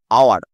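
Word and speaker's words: hour: দেখ এটা কি হবে স মিনিটস মেকড আওয়ার আওয়ার আওয়ার হচ্ছে কিন্তু হাওয়ার নয় আওয়ার ওয়রের মতন উচ্চারণ হচ্ছে তাই এই জায়গাটা কি হলো এন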